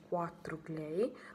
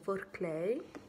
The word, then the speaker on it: 4clay: Ho scoperto che la scritta appunto non si dice 4 clay, ma bensì questo 4 va letto in inglese, quindi è 4 clay.